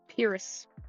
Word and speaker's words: Pyrrhus: So we'll go by what he called, what the nickname he gets, which is Pyrrhus. Pyrrhus. Like Pyrrha, but Pyrrhus, which I thought was funny.